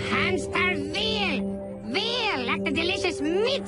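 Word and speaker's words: Hämsterviel: Daughter Hamster Wheel? It's Hamster Veal!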